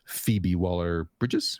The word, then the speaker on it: Phoebe Waller-Bridge: So I approve of this hilarity that Miss Phoebe Waller-Bridges, right?